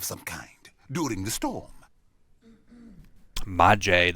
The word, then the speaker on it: Maje: Maje, that's how it's pronounced. I always assume a silent J.